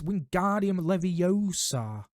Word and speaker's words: Wingardium Leviosa: You're saying it wrong, Harry heard Hermione snap. It's Wingardium Leviosa, making the guard nice and long.